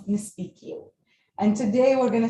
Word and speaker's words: Nespikiw: speaking as you know spq is an english word taken from english into arabic and pronounced in an algerian dialect kind of way and speak becomes nispiki and today we're going